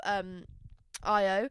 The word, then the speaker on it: Io: I always go to say Ao, but it wouldn't be Ao, would it? I love Io.